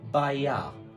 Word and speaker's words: bailar: So the first one here, if you remember, was bailar, but it's spelt with an L. It's by-ya. By-ya. Bailar.